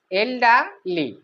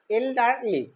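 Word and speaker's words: elderly: ই আর এল ওয়াই, এল্ডারলি, আরটা হালকা উচ্চারণ হবে, এল্ডারলি। Okay, we আর to respect the এল্ডারলি, আমাদের বয়স্কদের সম্মান করতে হয়।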